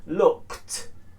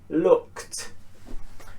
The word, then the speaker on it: looked: If we add ed, it becomes looked, looked.